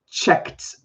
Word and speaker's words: checked: Sorry, if it ends with k, it actually makes a t sound when you add ed. It doesn't add another syllable. So we'll say checked.